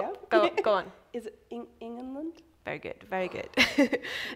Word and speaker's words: Ingenlund: it and trying to pronounce it correctly. But well, yeah. go on. Is it Ingenlund?